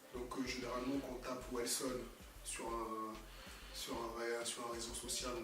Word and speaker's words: Welsone: Alors c'est Wellson, ça s'écrit W-E-L-S-O-N-E.